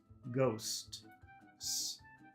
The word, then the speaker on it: ghosts: difficult to pronounce ghost first you say ghost and then you you stop and then you say s ghost S ghosts ghosts very difficult to